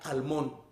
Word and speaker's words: almond: Ang uban magud mag-pronounce na almond, silent L.